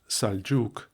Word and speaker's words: Seljuk: English with an e as seljuk pronounced saljuk marwan pronounced marwan etc.